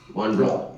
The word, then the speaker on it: Mont Blanc: And so the spelling of blank is Mont Blanc is BLONCK, whereas it is pronounced as Blanc. Mont Blanc. Yeah. It's a typical French pronunciation.